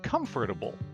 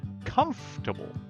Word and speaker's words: comfortable: four syllables they say comfortable but a native English speaker will only use three syllables and say comfortable forget pronouncing the loire and comfortable just drop it treat it like a three syllable word and say comfortable here's